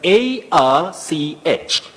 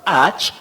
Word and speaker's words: arch: one is pronounced as AR when you're talking of Archbishop uhuh Archbishop Arch diois archrival you don't say AR you say arch for that combining form bet all right that's